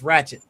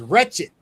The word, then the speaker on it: wretched: Well, the problem with the problem with that was the word was being mispronounced. It was wretched. A ratchet is a tool, but nobody corrected it.